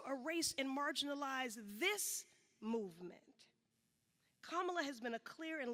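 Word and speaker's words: Kamala: Afrocentric ethnic name myself say her name kamla kamla but if you struggle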